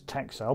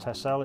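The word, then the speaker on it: Texel: which is a um it looks like it's tech cell but apparently it's pronounced tesla it's an island off the coast of holland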